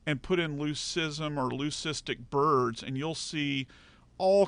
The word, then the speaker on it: leucistic: of plumage and it's what we call a leucistic I'll spell that word le you see ist I see